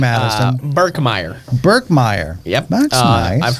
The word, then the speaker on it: Birkmire: Birkmire. Birkmire. Yep. That's nice. I've heard a lot of different, pronunciations. Birkmire. The mire of Birk.